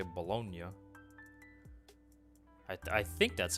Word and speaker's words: Bologna: but pronounced baloney but the original italian pronunciation is like bologna bologna i think it's